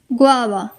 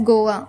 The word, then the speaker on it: guava: And now, guava. Yes, it is pronounced as guava. Many of us pronounced it as Goa, but it is not Goa, it is guava.